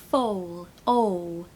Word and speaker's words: foal: calf and no l a foal is a baby horse fall oh it's a strange sound that is it's a very rare sound in the British accent it's really unusual so